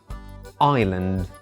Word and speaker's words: island: to be confused with Island or Isle where s is not pronounced at all the British Isles the